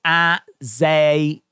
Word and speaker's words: Azazel: It's pronounced Azazel. Azazel.